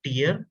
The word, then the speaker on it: tier: three tier architecture right the word tier is not pronounced and should not be pronounced as tyre so please remember like this word should be this particular word should be pronounced as tear and not as tyre